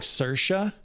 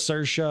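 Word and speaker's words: Saoirse: her name my apologies I think it's supposed to be pronounced like cersa okay I I saw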